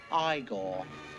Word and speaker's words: Igor: the character being boy now it's pronounced I gone on a personal note